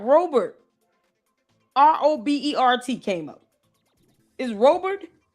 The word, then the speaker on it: Robert: If it's pronounced Robert, okay, fine. But is it? She got Robert. R-O-B-E-R-T came up. Is Robert?